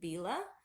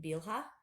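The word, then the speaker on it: Bilhah: Maids one each and I pronounce the name Bela some people pronounce it bilha or bilha I say Bila so however anyway and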